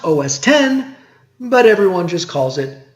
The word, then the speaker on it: OS X: a unix-like X ending which they told everyone was to be pronounced OS 10 but everyone just calls it OS X which is interesting because